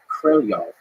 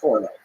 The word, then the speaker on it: Korolyov: My understanding, and from listening to native speakers, is closer to Korolyov than it is Korolev.